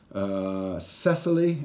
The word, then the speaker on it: Cecily: and then we have a couple of ladies Cecily is how you say her name she's the